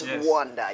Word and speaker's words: Rwanda: Yes, Rwanda, yeah. Rhymes with Wakanda.